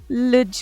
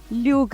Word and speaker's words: luge: लुज ride, ल्यूग ride, आप कुछ भी बोल सकते हैं, स्पेलिंग है LUGE, और ये आप बुक